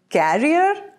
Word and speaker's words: career: Career? Career. Career. Data science is a very popular career choice these days. In British pronunciation, we say career, and in American pronunciation, it is career.